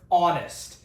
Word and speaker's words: honest: This word here, honest, has an H at the start, but the H is silent.